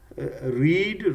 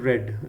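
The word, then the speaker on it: read: है इसकी forms रेड रीड रेड रेड पहले वाले को रीड बोलते हैं स्पेलिंग वही होती है दूसरा रेड और थर्ड भी रेड स्पेलिंग एक जैसा बस इसको बोलने में फर्क होता है रिवाइज का मतलब होता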